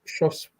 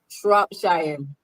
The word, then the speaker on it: Shropshire: Quail, and that's Shropshire. Shropshire. Shropshire. Shire. Okay. See how you trying to add a P in there? Come on. That's crazy. Oh, Spire. It's Shire, like New Hampshire.